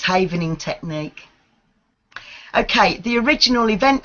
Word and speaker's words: Havening: learn about it and if I am I mispronouncing it what is havening technique am I saying that correctly yes that's correct it's havening technique okay the original event havening method effectively